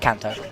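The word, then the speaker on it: Canto: move away after battle I think it's pronounced CTO Kanto like the region in Pokémon I'm going to plop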